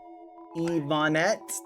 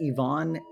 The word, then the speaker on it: Ivonne: Uh, Ivanette, thank you. Just thought I should say my name is pronounced Ivonne and the N&T stand for something else.